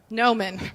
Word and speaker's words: Gnomon: Shelly's most recent contributions to higher education were Gnomon, right. Like the G is silent, sorry.